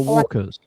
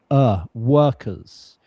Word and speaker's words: workers: Yeah, sometimes in Eastern Europe, this vowel sound is pronounced differently. So it's workers.